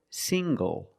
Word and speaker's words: single: Also, this word single. Single. The NG makes the nasal sound plus the hard G.